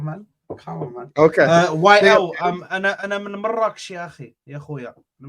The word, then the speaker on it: مراكش: R's being rolled like that. That's how you say it. It's Marrakech. مراكش. That's how you say it. Yes, Marrakech. You don't say Marrakech.